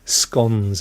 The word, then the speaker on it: scone: scones as well and I know it's spelled like a scone but but it's you know Southeast londoners Southeast people they say scone uh but uh it's the word cone with an S no it's not my friend it is